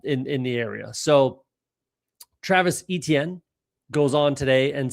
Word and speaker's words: Etienne: It's not A. It's E. Et. It's the easiest way to like describe it would be the word it's, but with an E. So Etienne. That's the proper way to say Travis Etienne.